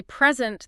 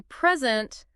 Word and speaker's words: present: Think about the word present. Mm-hmm. If I say present, that's a gift. Right. But if I say present, I'm giving something like a talk.